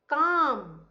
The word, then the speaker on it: calm: Calm, calm, right? L is silent in this.